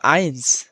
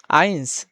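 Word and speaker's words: eins: এবং দ্বিতীয় যেটা আছে ই প্লাস এ ই প্লাস অথবা যেটা বলে আমরা বলি প্লুস এ ই যেমন এখানে দেওয়া আছে আইনস আইনস ডি এ আই এনস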